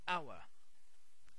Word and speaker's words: hour: say how we say hour so an hour so the first sound is a vowel that we pronounce so we add an